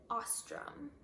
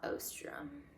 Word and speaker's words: Ostrom: And going along with that, for people who ask me how to pronounce my last name, you pronounce it Ostrom, not Ostrom.